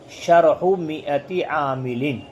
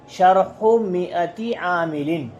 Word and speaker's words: شرح مائة عامل: دھیان سے سن لیں۔ اس کا صحیح اعراب اور صحیح تلفظ ہے شرح مئتی عامل۔ شرح ایک پیش کے ساتھ، مئتی ایک زیر کے ساتھ، عاملین پہ دو زیر۔ شرح مئتی عامل، کیا پڑھیں گے؟